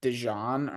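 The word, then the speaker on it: DeJean: literally today that apparently he wants it pronounced like dejon or something weird like I saw that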